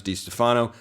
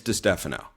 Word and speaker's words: DeStefano: his name like that I didn't know that was how it's pronounced I thought it was D Stefano it's de Stefano so which cool name